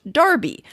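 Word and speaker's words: Enroughty: a century universally spelled in rufty and universally pronounced darby the members of the family themselves follow the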